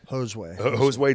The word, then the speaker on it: Josue: Is it Josue Dawson? Hoseway Dawson, okay. Hoseway. Don't want to mispronounce that.